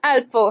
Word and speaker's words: Udolpho: ठीक है, इसकी सही प्रोनाउंसिएशन अल्फो है।